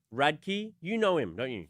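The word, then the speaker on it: Radke: How do you pronounce it? Radkkey. Radkkey.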